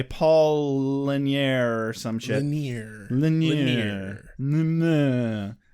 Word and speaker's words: Lanier: Lanier. That's how you pronounce is his name.